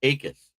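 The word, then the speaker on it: Jacas: Dave Akis, spelled Jacus, but pronounced Akis, defensive end, most violent hands in the draft in my opinion, out of the University of Illinois.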